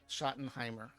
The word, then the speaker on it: Schottenheimer: pronounce that. Yeah, Schottenheimer.